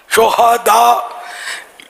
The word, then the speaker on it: شہداء: عربی میں سید الشہداء، شہداء ہاں پر زبر، یہ شہید کی جمع ہے.